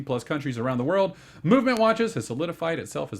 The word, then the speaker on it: MVMT: chal I love it uh mvmt uh watches pronounced movement if if you were wondering they took the vows out it's pronounced movement watches found out on the